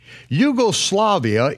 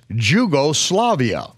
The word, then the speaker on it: Yugoslavia: not used in Europe Yugoslavia is spelled with a capital J and only Americans mispronounce it as jugo-slavia yeh Seuss is as